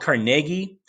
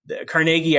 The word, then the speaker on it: Carnegie: big guys andrew carnegie sometimes it's called carnegie um it carnegie i think is is the proper pronunciation he's from scotland that's how they would say it in scotland carnegie is the americanized version so he comes from